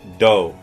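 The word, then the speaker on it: ド: Well, that's the character toe, and when it has those little marks next to it, it's pronounced like do, like it has a D sound instead of a T sound.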